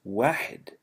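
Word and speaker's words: واحد: Arabic it's very clear the number one is pronounced wedded and is the principle of all numbers one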